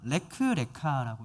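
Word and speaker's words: לֶךְ לְךָ: 원어를 그대로 음역하면 레크레카라고 읽습니다.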